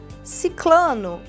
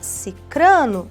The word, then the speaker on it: sicrano: rinit melícia é milícia ciclano tá errado nós temos sicrano na língua portuguesa a